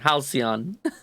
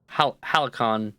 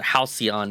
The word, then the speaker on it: halcyon: I've been pronouncing it Halicon for like years and years and years and years. Like, I think ever since I was really small, even. So to actually pronounce it Halcyon is strange to me. It's so foreign.